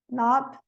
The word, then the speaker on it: knob: Knit, knob, no, knuckle. O L não é pronunciado em cough, talk, could, should, would.